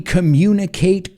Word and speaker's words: communicate: No es communicate. La U es como decir you, el you de tú. Communicate. You communicate. Same sound.